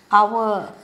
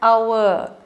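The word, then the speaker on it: hour: with a consonant but H is silent so we use an our the next letter the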